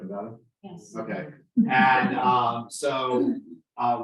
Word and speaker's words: Nevada: And did I say it right, Nevada?